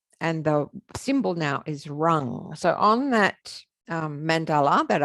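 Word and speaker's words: ram: this time it's around it's like a rolled r rung it's spelt r a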